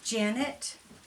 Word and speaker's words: Janet: My name is Janet, rhymes with planet.